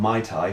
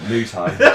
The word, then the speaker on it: Muay Thai: tie sorry Dad yeah there's the normal mispronunciations of My Thai which is a cocktail mu Thai cow and a tie it's mu mu mu Thai mu Tha uh well